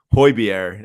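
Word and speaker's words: Højbjerg: until I watched there but it's pronounced hoibiere isn't that crazy even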